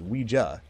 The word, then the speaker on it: Ouija: that you know what a Ouija pronounced we JA or a Ouija thanks